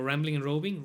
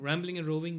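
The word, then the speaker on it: Rambling and Roving: todas las redes como rambling and robing rambling and robing Miguel liga rambling and robing rambling and robing migel liga Ram bling Ram bling como bling bling pronunciación and roving con v Okay aquí lo dejamos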